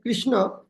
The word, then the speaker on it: Krishna: So these three words with Krishna, always we should, tongue is hitting the cerebrum. Krish, when you properly pronounce Kri, the tongue should hit the cerebrum.